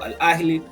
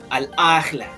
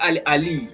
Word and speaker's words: Al Ahly: It's not Al Ali, it's Al Ahly. Supposed to go to Al Ali. It's the same as how you pronounce Gaza. People they said Gaza. It's not Gaza.